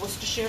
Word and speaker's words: Worcestershire: It's Worcestershire sauce.